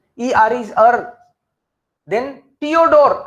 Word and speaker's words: Theodor: Then Theodore, again H in the middle is silent, so Theodore.